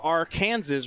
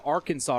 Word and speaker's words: Arkansas: please don't do that it's very difficult the our kansas river passes through kansas if you ever meet anybody from kansas you will not hear them say the arkansas river it is pronounced vr kansas river i'm